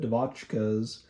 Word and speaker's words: Devotchkas: I even listened to the Devotchkas. I just used to call them the 99s, but then looked up how to pronounce it. It was the Devotchkas.